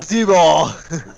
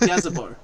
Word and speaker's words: Gazibo: Gazebo. It's pronounced Gazibo, named after the founder of this town, Dread Gazibo.